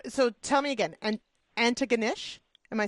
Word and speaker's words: Antigonish: town name so so tell me again an Antigonish am I saying it right an ganes yes antes yep okay I like it ant